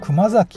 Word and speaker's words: Kumazaki: Il s'appelle probablement Gizen, mais le nom du lieu se prononce « Kumazaki ».